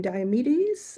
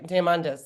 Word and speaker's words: Diamandis: So And where do you see then like these rooms and I'm like Peter, I can't remember pronounce his last name, Diomedes, I think it's. oh, Diamandis.